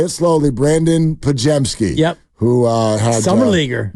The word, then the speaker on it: Podziemski: Podziemski, Podziemski. Okay, there it is. Your vote to best mispronunciation goes to who?